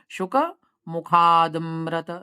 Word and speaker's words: शुकमुखादमृत: ठीक है, आ को पूरा स्पष्ट नहीं बोलना है, थोड़ा सा उच्चारण करना है, शुक मुखादमृत।